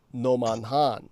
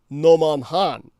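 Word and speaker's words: Nomonhan: at Noman Han so just to uh to express to you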